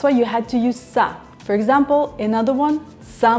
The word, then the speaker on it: со: Well, in front of these letters plus another consonant, you use sa. And that's why столом, there was a combination of s, t, and that's why you had to use sa.